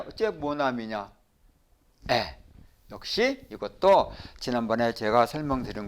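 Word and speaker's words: mon ami: 모나미 모나미 하지를 않고 모나미 하는 이유는 프랑스어에는 여는 규칙이 있어서 처음 하고 몸이 왔을 때는 점과 몸을 같이 붙여서 한 음으로 발음한다 그래서 모나미라고 읽는다 이렇게 하시면 되겠어요 자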